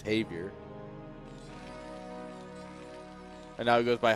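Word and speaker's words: Javier: Javi took like two three years before he like the saying like um Javior or something. He's like no it's Havier and now he goes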